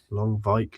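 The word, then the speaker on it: Lonwijk: Lvike, I can never remember how to pronounce his name. Nigel Longvik, is that right? Harve Longvik Longvike.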